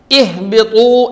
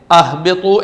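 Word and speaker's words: اِهْبِطُوا: Okay, ഇവിടെ ഇഹ്ബിത്തു എന്ന് വായിച്ചത് എന്തുകൊണ്ടാണ്, എന്തുകൊണ്ട് അഹ്ബിത്തു എന്ന് വായിച്ചില്ല, ഉഹ്ബിത്തു എന്ന് വായിച്ചില്ല? മറുപടി, ഹംസത്തുൽ വസ്ലിൻ്റെ ശേഷമുള്ള രണ്ടാമത്തെ അക്ഷരം, അതിനെ ഫത്ഹോ ഖസ്റോ ആണെങ്കിൽ ഹംസത്തുൽ വസ്ലിന് ഖസ്ർ കൊടുക്കണം.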